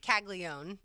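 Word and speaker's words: Caglianone: name is it's spelled caglia yeah but it's pronounced caglion and uh he by the way as we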